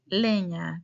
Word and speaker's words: leña: Leña, correct? Leña. Muy bien. Try to sound a little bit more Spanish speaker. Don't say leña. Leña. Very clear the pronunciation.